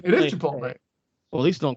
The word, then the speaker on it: chipotle: instead of theater to make fun of people mispronouncing it it's the same way i call call that that burrito shop chipot chipot uh chipotle instead of chipotle chipotle right it is chipotle well these don't call these